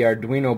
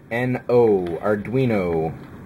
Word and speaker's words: Arduino: youtube for it too it's really spelt weird though are arduino at least that's how i'm pretty sure that i've heard it pronounced so it looks like